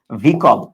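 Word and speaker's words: vehicle: ওকে, সো ওইটা না, যানবাহনের ইংরেজি হলো ভিকল। যানবাহনের ইংরেজি হলো ভিকল। এইটা বহুবচন হতে পারে, এটার উচ্চারণটা হলো ভিকল আর বানানটা হলো ভেহিকল। উচ্চারণটা হলো ভিকল, উচ্চারণটা কি বলো?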